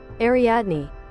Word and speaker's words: Ariadne: Ariadne. Ariadne. I think chat tried to help me pronounce that last time.